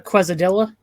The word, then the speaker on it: quesadilla: my god so any have you had like the pronunciation wrong it's a quesadilla but they do make it out of quasimodo and an armadillo what the hell yum